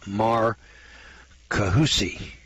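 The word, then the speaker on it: Marcahuasi: c m-a-r-c-a-h-u-a-s-i in peru is a plateau called mar kahusi peru four-dimensional art carvings which according to the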